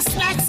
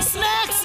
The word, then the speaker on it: snake: मैं स्नैक्स खाऊंगा। बहुत जोर की भूख लगी है, मुझे छोड़ दो। तुम्हें कानून की कसम। It's an order. Leave me. सांप को स्नेक बोलते हैं, स्नैक्स नहीं।